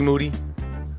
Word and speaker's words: Moody: Name is G Moody. Last name rhymes with duty.